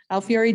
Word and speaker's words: Alfieri: I said it wrong the last time Fury Alfieri oh I wasn't off then I was okay Alfieri Jacobs LLC and I am looking forward to